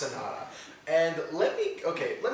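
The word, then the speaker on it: Sonata: I thought it was sonoda so now so you know that they're named after musical terms oh so it's pronounced Sanada and let me okay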